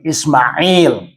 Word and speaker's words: Ismail: They will tell you not Sumaila, that's Ismail. And this is our culturalization.